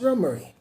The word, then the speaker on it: Romare: their only child Rohmer is pronounced rumery and is a West Indian name for both parents were of West Indian heritage Ron Murray grew up in Harlem